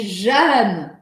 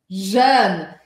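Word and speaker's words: jeune: E no sul da França, esse Jaune, que eu estou agora forçando até um pouco, Jaune, não se pronuncia com um som tão fechado. E a gente acaba pronunciando assim, ó, Jaune, Jaune. Que é diferente de Jeanne, Jeanne.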